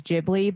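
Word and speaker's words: Ghibli: so okay okay I think any of the jibli movies the studio jibli films are really amazing and those are I I want to say if if you have some beginner maybe it is jibli but that's only because the the topics vary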